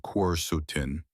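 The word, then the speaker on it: quercetin: Apples, especially red varieties like Red Delicious and Gayla, contain high levels of a powerful flavonoid called queretin, pronounced quutin, concentrated mostly in the skin.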